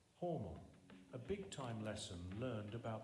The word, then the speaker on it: Hormel: not homegrown when announcing Hormel was closed. Doesn't sound bad, does it? Nevertheless, the switchboard lit up because in Austin, Hormel is actually pronounced by its family name, Hormel, a big-time lesson learned about the power of local pronunciation.